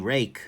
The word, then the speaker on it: Ruike: So, Ruike, rake. I know it's pronounced rake in pinyin if you spell it out like it is here, but that's just not helping any of us trying to do gear reviews.